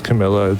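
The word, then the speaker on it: Carmilla: And yes, I I did say her name right. It is Camila.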